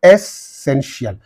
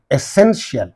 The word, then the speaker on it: essential: So essential. So in these two syllables, the suffix is there, and the syllable preceding them, ten. That's why essential.